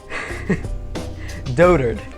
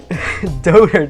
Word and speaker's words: dotard: level I chose dotard it's it looks like you could pronounce it dotard and that would be very funny but don't hurt is how you pronounce it and it basically